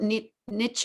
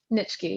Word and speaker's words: Nitschke: Philip Nietzsche, how do you pronounce his name? Nitschke, yeah.